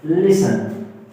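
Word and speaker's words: listen: For example एक लफज़ है लिसन लिसन लिसन मैट्री silent है तो इसे साइलेंट लेटर कहा जाता है।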